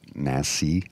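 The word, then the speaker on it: NACI: and people are you got to pronounce that word nassie n ACI because it sounds too similar to something else and I want to make sure everybody understood what you're saying committee on immunizations um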